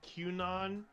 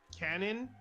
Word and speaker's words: QAnon: I thought it's pronounced QAnon, but apparently it's pronounced canon.